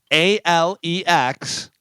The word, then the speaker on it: Alex: Listen, if you're spelling it al X, it's Alex, not Alec.